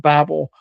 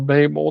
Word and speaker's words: Babel: And if you read chapter 10 of Genesis, that's the chapter where we have the tower of Babel or Babel, depending on how you want to pronounce it.